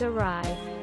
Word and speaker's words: awry: into plates the word awry is actually pronounced awry i used to read it is already and